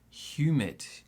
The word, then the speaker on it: humid: Now this is the word humid. Humid. Now, two sounds in this word. The stress is on the first one.